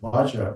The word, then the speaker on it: vajra: comfortable with uh in general or you asking benza to okay what I said was what I